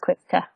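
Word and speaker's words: coibche: So, they would get married and he would pay the bride price, the quivka. Mm-hmm. Okay. Quivka is how you say it? Yeah. Okay, quivka. Okay. Yeah, it's C-O-I-B-C-H-E, but it's pronounced quivka.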